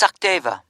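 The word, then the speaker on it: Sachdeva: It's Sakdeva. Okay, can you spell that for me?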